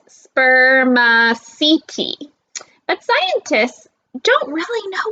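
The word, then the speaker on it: spermaceti: material in their heads it's called spear machete you say it like this sperm seeking but scientists don't really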